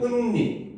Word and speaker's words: 은닉: 근데 앞에 오면은 익명 그렇지 인터넷 세상에서 익명화 얘기하잖아 그렇지 그때 익명할 때는 니은이 탈락해서 익명이 돼요. 알겠죠? 근데 뒤에 오면은 은닉 은닉한 자금을 다 찾았다 이러잖아. 그렇지? 그래서 은닉이라고 해서 둘째 이하의 음절에 올 때는 그대로 발음이 됩니다.